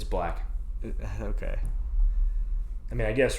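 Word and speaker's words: 6lack: How do you say, what is it, 6 Lack? It's black.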